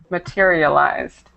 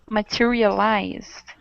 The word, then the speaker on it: materialized: pronunciation Point here materialized we have the Ed at the end but make sure you don't add the extra syllable so it's materialized materialized right okay okay very